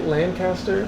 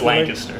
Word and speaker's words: Lancaster: We're in, am I saying it right, Lancaster? I mean, that's how everybody not from Lancaster says it. Okay. But it's Lancaster. Lancaster.